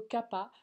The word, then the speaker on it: Kapha: Et enfin, le dosha Kapha, en Inde on prononce plutôt Kapha, correspond à l'élément eau, et le mot kapha signifie littéralement ce qui relie les choses entre elles.